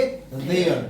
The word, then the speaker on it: there: टीएच को उच्चारित करते समय हम लोग क्या करेंगे? अपने टंग को हल्का सा आउट करेंगे और क्या करेंगे? हल्का सा वाइब्रेशन के साथ इसको बोलेंगे देयर। क्या बोलेंगे? देयर। फिर से बोलो। देयर।